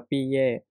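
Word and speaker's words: 毕业: ที่ 2 นะ ครับ คำ นี้ อ่าน ว่า ปีเย่ พี่ แย่ เนี่ย คำ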